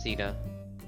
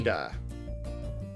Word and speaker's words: Seda: Aggressively shall- partying, says Sita. Sorry, None That shall is see me. Seda. Sita, I'm sorry. Seda. That's how you pronounce it. You have to do it like the Sega logo, but it's Seda.